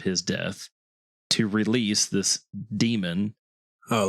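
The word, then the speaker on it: Daemon: Damon okay let's see d a e m o n yes so demon is how that's pronounced yeah I mean that makes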